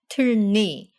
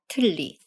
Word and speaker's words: 틀니: So this word, the word for dentures, isn't pronounced 틀니, but rather 틀리.